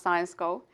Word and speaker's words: Syensqo: It's pronounced Science Co is a specialty chemicals company that really enhances the way we live, work, travel and play.